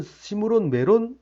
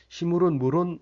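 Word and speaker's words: 시므론 므론: 무런 왕이라고 하는데 그 원래는 시 므 론 메론 왕이라고 어 발음을 해야 되는데 왜 그랬는지 모르지만 시 물은 무런 왕 이렇게 한번 오타로 도 2분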